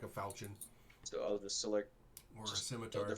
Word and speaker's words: falchion: actually actually hear what it's sorry it's a falcon um not a long i mean call it a long sword it's a falchion but hitting with it one-handed is like hitting